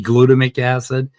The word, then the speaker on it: glutamic acid: It's actually glutamic acid, but if you pronounce it glutamic acid, you'll understand that it's an E.